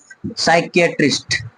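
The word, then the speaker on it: psychiatrist: Psychology, psychology, চারটা syllable, psychology, পিটা silent আছে। সাইকিয়াট্রিস্ট, সাইকিয়াট্রিস্ট, ওকে, সাইকিয়াট্রিস্ট।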